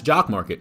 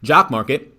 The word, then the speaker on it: Jock MKT: stock market, and that's Jock Market. So if you're not familiar already, Jock Market rhymes with stock, right?